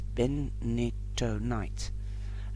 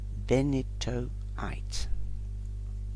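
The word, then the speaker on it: benitoite: use is the companion stone or metal is ben nito night a very rare blue gem and i'll spell it out is b-e-n-i-t-o-i-t-e benito eight sorry if i don't express it correctly okay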